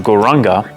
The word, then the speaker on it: Gauranga: ronger but though that the mantra gauranga is broken into four different syllables core rah like so as we breathe in